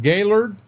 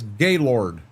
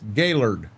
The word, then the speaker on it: Gaylord: When I read that, Northern Michigan, and I pronounce it Gaylord, you know I spend time up in that area. Because 95% of the people in here would read that as Gaylord. And it's not Gaylord, it's Gaylord.